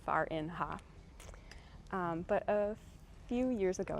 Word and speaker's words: Farinha: The way you pronounce her name is Farinha.